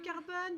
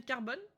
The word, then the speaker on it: Carbone: Et salut Carbone, bienvenue dans le chat, comment tu vas? Bienvenue, bienvenue dans le chat. Bye bye. Bye mon tabibito. J'espère que j'ai bien prononcé. Bien Carbone et pas Carbon.